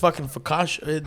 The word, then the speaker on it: focaccia: had been bragging up this focaccia am i saying it right yeah yeah yeah